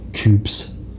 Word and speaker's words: coupe: Coupes. How much soup would you put in a coupe? Would you fill a coupe with soup? Even though it's pronounced coupe.